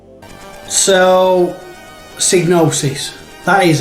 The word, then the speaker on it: Psygnosis: is the pronunciation yeah i've always said diagnosis because it would be cygnosis you know the y and the g being like yeah it makes sense so psygnosis that is how i